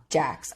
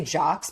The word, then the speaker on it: Jax: What I guess one other thing to note is that Paige and Jax. I want to say Jocks because of how it's spelled, but they keep pronouncing it Jax.